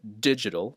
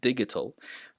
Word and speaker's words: digital: And some might pronounce these words with a G sound, but it's oxygen, hydrogen, digital, not digital, agenda, not agenda, right?